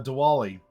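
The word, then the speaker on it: Diwali: uh such as uh dwali or I think it's more of a it's spelled with a W but I think has a little bit more of a v pronunciation sorry if I mispronounce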